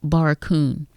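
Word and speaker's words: Barracoon: The book is called Baracon. It's spelled B A R R A C O O N Barakun.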